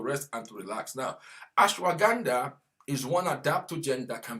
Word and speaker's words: ashwagandha: Ashwagandha, that is the name of that product. Ashwagandha. Ganda like Gandhi. Ash like ash.